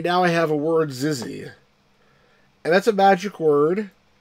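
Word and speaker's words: XYZZY: They pronounce it Zizzy.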